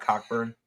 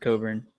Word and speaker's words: Cockburn: Not Cockburn. Oh, maybe it's a different guy. No, Kofi. You're right. Kofi Cockburn. Oh, I guess it's pronounced Coburn.